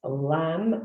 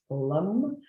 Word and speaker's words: lam: associated with it is lamb l-a-m sometimes pronounced lum um and that's the